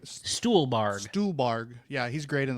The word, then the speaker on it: Stuhlbarg: Yeah, I'll definitely agree with you on pronounce his name again, Stonebarg, right? Stuhlbarg.